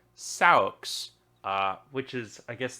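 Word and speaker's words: seax: Cliff it's actually s-e-a-x which is pronounced according to Wikipedia socks uh which is I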